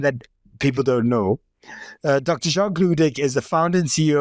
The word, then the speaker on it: Jacques Ludik: Jacques Ludik. How are you doing today? I'm doing fine, and that was the perfect pronunciation of the name.